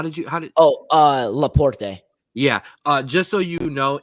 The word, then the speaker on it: Laporte: Evan, how did you pronounce that defender's name from Spain? Spain, which defender? Laporte. How did Laporte. Yeah. Just so you know, it will always be Laporta due to former Cleveland Guardians / Indians, Matt Laporta.